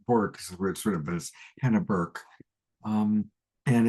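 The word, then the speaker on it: Hannah Bork: Uh, Hannah Han n a h Bork, but it's actually pronounced Burke, but it looks like Borc.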